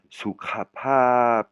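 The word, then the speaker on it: สุขภาพ: et avec ph, c'est-à-dire ça se prononce pas f, ça se prononce avec de l'air qui sort après le p. Pap, hein, soukra pap, c'est la santé, hein.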